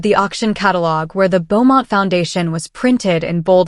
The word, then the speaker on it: Beaumont: "You said Beaumont," the woman replied, nodding toward the auction catalog where the Beaumont Foundation was printed in bold letters. "The French pronunciation is Beaumont. The T is silent."